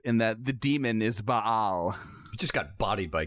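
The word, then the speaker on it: Ba'al: I mean, that's actually what it is, because that's actually a thing, is Baal, is B-A-apostrophe-A-L. That's actually how you're supposed to pronounce it, but Bale's cool, too.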